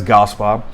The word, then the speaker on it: Gaspard: So I pronounced my last name as Gaspar, as you heard me in the beginning of the show. And it's spelled, if you would spell it, it's Gaspard. And it's a hard pronunciation because I pronounce it like a Cajun.